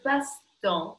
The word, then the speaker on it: passe-temps: Рот не закрывайте на «а». Le passe-temps.